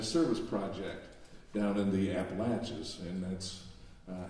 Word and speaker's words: Appalachia: there they'll tell you it's not appalachia like what we yankees would like to say they say no it's appalachia like i'm going to